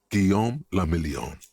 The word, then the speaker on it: Guillaume Lamillion: For Revachol, your city, that meant only one thing: Guillaume Lamillion. If it doesn't rhyme, you're not pronouncing it right.